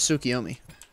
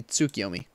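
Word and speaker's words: Tsukuyomi: right this moment here's tsukiomi actually i supposedly should pronounce it properly tsukiyomi let's head left and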